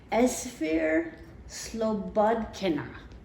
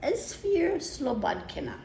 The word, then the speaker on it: Esphyr Slobodkina: Now this is an old book and it's by a woman with a really hard to pronounce name. Her name is Esphyr Slobodkina. That's Esphyr Slobodkina.